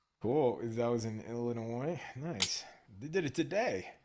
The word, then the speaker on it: Illinois: That was in Illinois. Nice. They did it today. Wow. Yeah, it's pronounced Illinois, right?